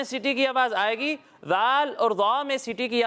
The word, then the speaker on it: ذال: زال۔ ذال نہیں، اس کا درست تلفظ ہے ذال۔ پیارے بچوں یہ ذال